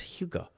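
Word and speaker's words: hygge: looks like it' be it looks like it'd be pronounced higgy but it's Huga h h h it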